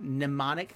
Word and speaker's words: mnemonic: is probably this not mnemonic sphere i believe the m is silent on that mnemonic i'm right always that's